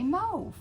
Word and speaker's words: mauve: moef and i'm like i don't know why is it that people say mo it is actually the proper way to say it mo yeah i don't like that yeah i'm i'm i'm on team mob but team mauve is wrong yeah well there you